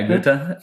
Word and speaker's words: Goethe: Well, you probably can pronounce that one right. Van Goethe? Yeah, Goethe.